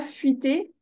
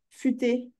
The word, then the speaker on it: futé: Non, futé, comme ça. Oui. C'est pas fuité, futé.